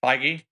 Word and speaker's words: Feige: Feige? Yeah, Feige. Is that how you pronounce it?